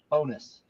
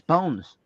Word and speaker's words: Bones: Bonus. I said no, it's Bones. Yes, it, Yes, it's written bones, but it's not bonus.